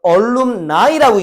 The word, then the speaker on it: alumni: 참고로 복수명사다. 그러니까 alumni라고 읽는다. 네가 아니고 alumni가 졸업생이야.